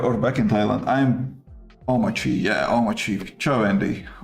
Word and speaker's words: Omarchy: I'm Omachi. Yeah. Omachi Joendi. Omachi.